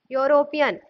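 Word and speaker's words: European: इसमें साउंड किसका है कौन सा नेट का योरोपियन योरोपियन इसको करते हैं योरोपियन यो यो हनी वाइट स्पेलिंग और प्रनंसीएशन आफ यूरोपीयन और होता क्या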